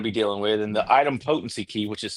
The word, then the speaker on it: idempotency: And the item potency key, which is spelled IDEMPOTENCY.